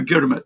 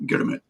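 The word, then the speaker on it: girmit: fiveyear agreement to um which the Indians called gurit because you know you can't really pronounce agreement in Indian in those days right so it's the gurit so g i r m i t gurit so you had a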